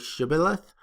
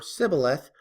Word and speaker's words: shibboleth: In Judges chapter 11, the way a person pronounced shibboleth, whether it was shibboleth or sibboleth, was a sign if they were friend or foe.